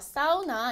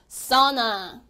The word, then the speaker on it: sauna: 봤나요 4 오나 아니죠 au 가야 앞에 있기 때문에 au 는 어떻게 발음 해주실 수 있다고 제가 말씀드렸죠 그렇죠 아 어 나 또 늘 어그 저건 아아 어로 발음의 주십시오 정해 주셨습니다 그래서 au